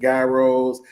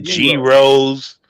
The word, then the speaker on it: gyros: It starts with a G, but they pronounce it gyros.